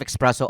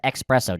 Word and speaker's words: espresso: four four shots of espresso over ice. I like that. They also pronounce it espresso. Just letting you know. What do you say? Espresso. There's no X.